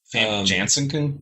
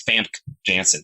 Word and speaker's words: Famke Janssen: Famke Janssen? Yeah. Nope, that's not how you pronounce that name. It's Famke Janssen.